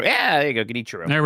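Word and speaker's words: Genichiro: Did I Mike, you were you were trying to phonetically spell it out in my chat last night. Is it Ginichiro? Guinichiro. Yeah, there you go. Ginichiro.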